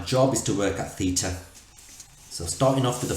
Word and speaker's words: theta: you right now that's you there this is pronounced theta that's the angle angle which I'm gonna fire